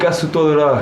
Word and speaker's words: casse-toi de là: That's not proper French. It's French from the south. Oh yeah. How do you say it? Casse-toi de là.